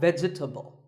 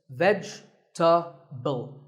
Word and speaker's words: vegetable: a lot is vegetable it's not vegetable if you say it correctly there are only three syllables vegetable vegetable let's talk about a couple